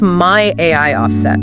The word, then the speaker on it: My AI Offset: It's my AI offset with the emphasis on the AI.